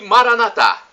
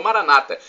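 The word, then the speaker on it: Maranatha: ele o fará o e Maraná thá como dizemos dizemos nosso católicos ou Maranata como dizem nossos irmãos separados os evangélicos ou protestantes não importa pronúncia porque o significado é o mesmo do aramaico dialeto de Jesus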